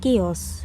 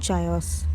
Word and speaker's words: chaos: It is pronounced chaos, not chaos.